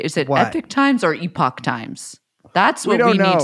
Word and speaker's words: Epoch: series the thing is I think it's Epoch times because that's how Epoch is spelled but through doing that series and you constantly saying epic times I've just now now I just say Epic Times And now when I